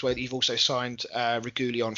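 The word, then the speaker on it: Reguilón: Although it is worth mentioning as well that you've also signed Regulion from Madrid, if that's how you pronounce it. Regulion. I'm not sure. I think it's Reguilon, but don't quote me.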